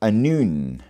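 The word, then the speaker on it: Annwn: By the way, Anun is spelled A-N-N-W-N. I did warn you about vowels being optional.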